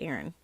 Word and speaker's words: Aryn: I spell her name Aryn, pronounced Aaron. One night, I put Aaron in her crib in the room where the 2 youngest children slept.